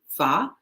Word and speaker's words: pho: It's spelled pho, but it's pronounced fa.